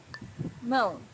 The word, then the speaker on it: Mão: Mão, hand. Mão's a little bit difficult to pronounce for beginners because of this nasal sound, but try to practice it and you'll get better and better each time.